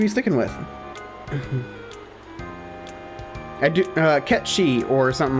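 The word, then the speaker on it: Cait Sith: Kate Sith, I do believe, is the proper...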